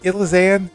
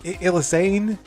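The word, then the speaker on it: Elisanne: elizan a that's like how do you pronounce her name is it idlizan is it illusane I think it's illusane I'm gonna say illusane um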